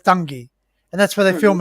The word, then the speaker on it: Dungay: it's over at dungy so if you look at the name of spell it's about d-u-n-g-a-y dungay but it's dungy and that's where they